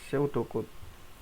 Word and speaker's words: pseudocode: yang ketiga ada pseudocod ingat bacanya pseudocode bukan pseudocode bacanya seudokut yang pertama menggunakan algoritma